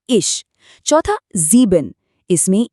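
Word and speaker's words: ich: फिर है इश नरम च के साथ यह बना इश चौथा जीबिन इसमें इ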